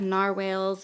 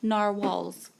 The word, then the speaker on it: narwhals: around stickers they have NAR whales and and unicorns and stuff they're like stay magical but then there's these gorgeous florals it's a pup thank you it's supposed pronounced narwhals so I just matched